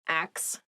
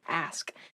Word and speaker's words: ask: please pronounce this correctly it is not AXS many native speakers make this pronunciation mistake and it really bothers me ask ask me about my